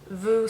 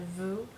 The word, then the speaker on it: vous: keep in mind that the S at the end of vous becomes a, even though it's not pronounced when you say vous, it takes on a Z sound in front of the vowels.